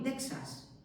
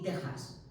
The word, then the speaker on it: Texas: quedado allí fosilizado, pero a la hora de pronunciar no tenéis que decir ni México ni Texas, es México y Texas. Y esa X, algún año, hace muchos años lo preguntaban, ¿cómo se leía esa letra? Esa letra en castellano se lee como J, porque viene de esa J del siglo XVI, ¿de acuerdo?